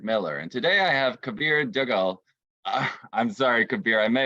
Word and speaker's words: Kabir Duggal: I'm Patrick Miller, and today I have Kabir Duggal. I'm sorry, Kabir, I may have mispronounced your name, No, but I'm you sure you'll didn't.